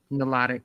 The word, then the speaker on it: Nilotic: Oh, he's Nilotic. He's a Nilotic African. Nilotic. Excuse me. Thank you. Nilotic. Extra syllables. I would throw them extra syllables in there.